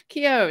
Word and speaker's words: Keogh: best there like yo don't say the gh kyo stephen kia welcome they